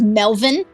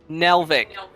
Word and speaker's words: Nelvik: Did you say his name is Melvin? Nelvik. Nelvik. Not Melvin.